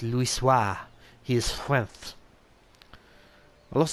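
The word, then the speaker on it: Louisoix: Louis wha foretold and for those wanting the reason why I know how to pronounce that particular name is because it comes up a lot and thankfully is voice voice acted at certain parts so I know it's Lewis wha he is wealth a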